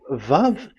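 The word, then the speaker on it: ו: So the word, the shape Vav is really pronounced V, like Vogue.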